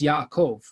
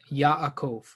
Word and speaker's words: Yaakov: Yeah, Jacob's name in Hebrew is Yaakov. Yaakov.